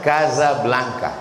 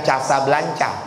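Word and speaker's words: Casablanca: Deza sama juga dengan ibu kota Maroko cara bacanya Kaza Blanca Jadi bukan Casa Blanca PHD ph-nya filosopi d-nya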